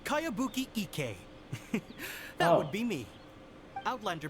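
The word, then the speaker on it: Kayabuki Ikkei: By Kawabunga Iki. Yoniha, this is a really strange name. Yeah, I don't recognize it. Who's this Kawabunga? It's pronounced Kayabuki Ike.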